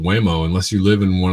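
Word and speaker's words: Waymo: And Whimo, that rhymes with lameo.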